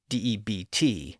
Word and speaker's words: debt: So here, Holofernes is saying that the B should be pronounced in words like doubt and debt. Now, as we saw in an earlier episode, the B was added to those words by English scholars in the 1500s to indicate that they each had a B sound in Latin. but neither of those words were ever pronounced with a B sound in English.